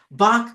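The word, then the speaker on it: balk: a good word bed b a l k it's like it rhymes with walk Bach means you don't want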